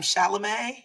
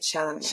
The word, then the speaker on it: Chalamet: Chalamet? Chalamet, I believe.